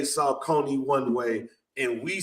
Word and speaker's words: Saucony: Because I think overseas, they say Saucony.